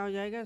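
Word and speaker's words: hedge: आया है तो डी हमारा क्या हमारा क्या हो जाएगा साइलेंट हो जाएगा डी को हम नहीं पढ़ेंगे क्या पढ़ेंगे इसको?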